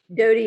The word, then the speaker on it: Dodie: Is it Dodie or Daddy? Dodie Ostein.